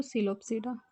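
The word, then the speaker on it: Psilopsida: सिलोपसीडा, पसीलोपसीडा, तो सिलोपसीडा, P silent है।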